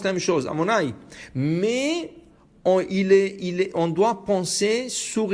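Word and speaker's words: Adonai: Mais tu peux pas le lire de la manière dont il est écrit. Alors tu l'écris Yud Ke Vav Ke, mais tu le prononces pas tel qu'il est écrit. Tu le prononceras sur le mot Amonai, qui est le nom d'Hachem. Alors il est écrit d'une manière, il est prononcé d'une autre.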